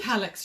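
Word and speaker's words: Kallax: Natalie just said contemplating going and reorganising the sewing room and building another, I don't know how you pronounce it, K-A-L-L-A-X unit? Calyx unit. Calyx?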